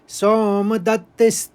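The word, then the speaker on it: सोमदत्तिः: किस तरह से पढ़ेंगे सोम औ की मात्रा है तो सोम दत्त तो दो त है तो दत एक निकला और फिर तथैव निकलेगा तिस और स्थि तथैव तस तथैव ओम फिर हम चरण इस तरह से पढ़ेंगे। सोम दत्त तथ च अब पूरे श्लोक को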